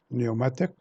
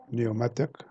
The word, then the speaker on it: pneumatic: 36, pneumatic. The letter B is silent. Pneumatic, not pneumatic.